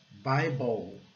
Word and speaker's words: Bible: O I recebe o som básico, que é o som do I, o I, né, o som básico é I. E o E fica silencioso ao final, não é pronunciado.